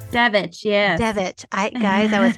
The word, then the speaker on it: Devich: Devich, yes.